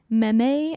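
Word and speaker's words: mémé: Meme is French Meme? for grandma. Meme. And you guys thought grandpap was weird? And it's spelled You're like a grandpap? meme. Ah. It's spelled like memes. So whenever my mom like texts me, like, we're going over memes tonight. Memes. Memes. It's MEME though.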